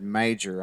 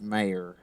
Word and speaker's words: Mayer: pronunciation there got you unfortunately you said major I think but yeah it's mayor uh dfz is Daryl